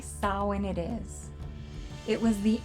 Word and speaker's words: Samhain: ever heard of samhain it looks like it should be pronounced samhain but the irish say sawin it is it was